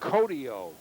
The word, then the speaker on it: Kohito: His name is spelled Kohito. He's a co-captain, but it's pronounced Kohtio.